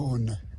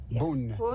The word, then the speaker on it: Beaune: Although we're not pronouncing it in the true French way, which I have not figured out how to do. Beaune. Beaune.